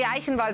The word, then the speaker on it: Eichenwalde: because i am unfortunately the only person who can pronounce uh eichenwalde so oh yeah ha yeah in germany the german equivalent will be eichenwalde yeah yeah so it's